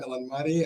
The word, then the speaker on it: Elanmati: Yeah, Elanmati, and there's a story to, and there's a story why we have Hurricane H here.